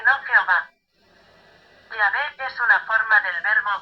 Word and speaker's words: Yahvé: Es decir, que la pronunciación Jehová es una pronunciación defectuosa del nombre de Yahé.